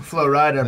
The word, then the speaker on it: Flo Rida: is the rap star flo rida and oh the phone he mentioned one time about his his moniker flo ryder pronounced flo ride uh uh represents florida